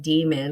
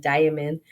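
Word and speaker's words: daimon: always say it wrong I always want to say like demon because it sounds like demon but it's not demon it's like diamond um Guardian Angel like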